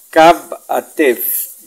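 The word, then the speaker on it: kab'atew: La W al final de la palabra se pronuncia como una F, suave. Kab-a-tef, granizadas.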